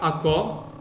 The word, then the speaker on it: ако: Сега, ако, казахме ударението е на О, ако.